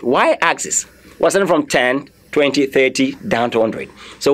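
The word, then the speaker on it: vingt: 20 is a 20. I didn't say vent, I say 20.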